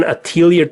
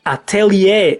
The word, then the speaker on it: Atelier: next is the Arlen Attilio trilogy well I've talked about these games before and you probably already know I'm gonna tell your fan sorry Atelier is the right pronunciation anyway the Arlen trilogy